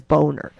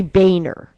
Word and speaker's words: Boehner: you know i swear his name if you phonetically spell it says boner so but he probably they just probably decide listen we don't want to be called boner so we'll say boehner or mitch mcconnell you